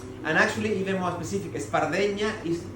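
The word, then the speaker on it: espardenya: in catalan there is a word that is pronounced espardena is it's a difficult word right because the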